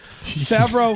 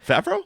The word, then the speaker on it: Favreau: Yeah, Favreau.